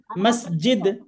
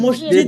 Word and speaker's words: মাসজিদ: মাসজিদ আমরা যে মসজিদ বলি বা মসজিদ বলি অনেক জায়গায় বলেন মসজিদ তো এটা আসলে উচ্চারণটা যেহেতু এটা আরবি একটা শব্দ এজন্য আমরা শুদ্ধটাই বলব মাসজিদ ইয়াশবাুম উসজুদ